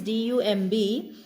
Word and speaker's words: dumb: I read it, though it is D-U-M-B, I said it as dumb. Dumb, and I am not saying B ka sound. B would not be pronounced.